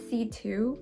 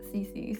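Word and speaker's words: C.C.: But apparently her name is C2, but they would spell it C dot C dot. So I was like CC.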